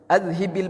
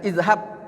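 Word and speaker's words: أَذْهِبْ: sekalian manusia, azhibil ba's, azhib bacanya azhib, bukan izhab, ya, jangan izhabil ba'sa. Kalau kita baca izhabil ba'sa, ya, itu kita suruh penyakitnya yang pergi. Tapi kalau azhibil ba'sa, sahih, ini betul, ini yang fasih.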